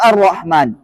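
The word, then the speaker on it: الرحمن: at jadi atyibat ah lam kata dengan ro bacanya alrahman Arrahman Arrahman nah Wal k duha bacanya waduha baik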